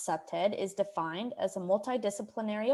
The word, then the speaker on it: CPTED: explore what that means the acronym cpted pronounced septed is defined as a